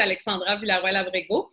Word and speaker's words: Alexandra Villaroel Abrego: super parfait donc comme pénéope l' si bien prononcé mon nom c'est Alexandra villarabg je suis née ici juste pour parce que